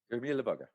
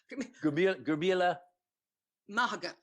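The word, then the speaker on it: go raibh maith agat: Gurmila Bugga. Okay. Gurmila, well, not quite Gurmila Bugga. Gurmila Mahagat. Mahagat.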